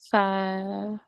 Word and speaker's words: feiern: Fire. Fire and so like fire. Like Okay, saying fire. fire. Yeah, like saying fire. Fire. And fire in. Which dish? Iron. Feiern. Okay. Das wollen wir mit euch feiern.